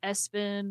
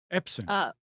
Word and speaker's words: Epson: prints, and a lot of it is recommended Espin. Is that how you say it? Espin, Espon, ESPON. Epson.